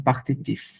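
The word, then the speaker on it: partitif: তিফ তখন আবার বানান চেঞ্জ হয়ে যায় এরকম পাখতিফ এরকম হয়ে যায় দোলা ফর ফেমিনা অবশ্যই আবার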